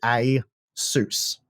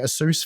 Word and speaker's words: Asus: Taiwan like this is it's actually a soos Asus so it's one of the less optimal ways of saying it I would have thought